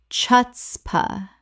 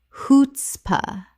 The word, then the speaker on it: chutzpah: Common mispronunciation. Chuts pa. Correct pronunciation. Hoots pa. The c h makes an h sound in Yiddish.